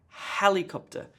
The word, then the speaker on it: helicopter: task gets the emphasis helicopter helicopter emphasis on the first syllable the other syllables